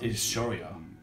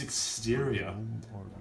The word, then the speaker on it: exterior: they decided to work together can no one pronounce exterior correctly it's not hysteria it's exterior i hear multiverse sonic does the exact same